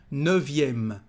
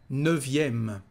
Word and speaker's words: neuvième: Neuvième, so you know that nine is neuf with a letter F, here we've got a letter V. Neuvième, neuvième, le neuvième or la neuvième.